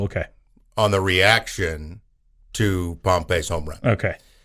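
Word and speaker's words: Pompy: kid looks pretty good pompe I believe is how you say it p o m p y uh he's he was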